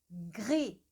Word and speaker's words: gré: Agora eu senti com gré que lá na base da língua, lá, né, já entrando na garganta, ele dá uma vibrada, assim, você sente o negócio vibrando.